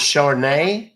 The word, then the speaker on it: Char: did you I'm sorry how you said your name is Char yeah Char you said it right that sounds like an